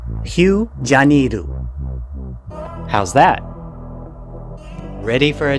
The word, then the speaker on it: Rio de Janeiro: and vibrant nightlife while native English speakers commonly call the city Rio de Janeiro that's not its true pronunciation so bear with me while I attempt to wrap my tongue around a more authentic way to say the name Hugh janiru how's that ready for